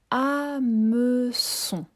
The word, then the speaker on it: hameçon: Deuxième mot, un hameçon. Alors dans le mot hameçon, il commence par une lettre muette. C'est le H muet que je n'entends pas au début du mot. Hameçon.